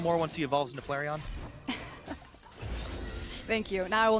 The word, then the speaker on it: Flareon: maybe a little more once he evolves into Flareon thank you now I will never mispronounce it again I've saved it there we